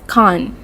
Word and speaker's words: can't: more fluently for examples the word can't will be pronounced as con mostly becomes mostly let's